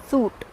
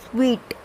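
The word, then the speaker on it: suite: will say it as suit or suit, but this is not how it is pronounced, it is sweet.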